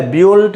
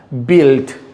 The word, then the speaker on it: built: यहाँ पर लिया है, बिल्ट, बिल्ट या ब्यूल्ट या इस तरह का कोई वर्ड प्रोनाउंसिएशन नहीं होगा, बिल्ट, बिल्ट, बिल्ट।